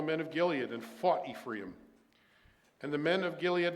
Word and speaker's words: Ephraim: that time 42,000 of Ephraim jeffa judged Israel six years then jeffa the gileadite died and was was buried in one of the cities of Gilead forgive me okay Ephraim is the Hebrew pronunciation and when I'm working